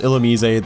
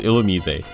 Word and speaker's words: Illumise: a lot of really odd ones like this illumise and yes it is pronounced illumise that is what the anime says and Pokedex 3D uh it's also its Japanese name so it is illumise it's a pure bug type it has a